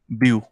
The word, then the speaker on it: but: I think T silent है यहाँ पे. यस, ब्यू से ब्यू है, टी साइलेंट है.